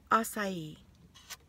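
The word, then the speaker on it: açaí: Okay, so I'm back, and gosh, acai. That's how she told me to pronounce it.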